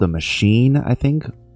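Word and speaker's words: Maschine: It was called a machine, I think. Machine was spelled with an S. It was M A S C H I N E.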